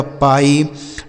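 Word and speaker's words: pie: पी आई ई इसे पढ़ा जाएगा पाई।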